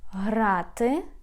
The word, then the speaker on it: грати: Грати, to play.